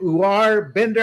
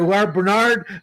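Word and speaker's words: Uar Bernard: That freak of a specimen that has never played football, how do you pronounce his name? U Bender, I believe. Uh, Bernard, I'm sorry. U Bernard.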